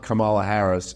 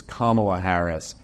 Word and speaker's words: Kamala Harris: then they're like uh it's not Kamala Harris it's Kamala Harris and actually if you